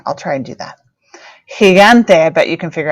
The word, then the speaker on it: gigante: hop down to G there are two ways to pronounce g also it can be a g or a ha in Spanish so let's look